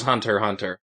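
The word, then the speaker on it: Hunter x Hunter: she had never noticed the famous one is hunter hunter yes even super iowa patchwolf pronounces the x and i'm like dude what are you doing yeah come on man you did an hour video essay on hunter hunter you pronounced the name wrong the whole time super eye patch wolf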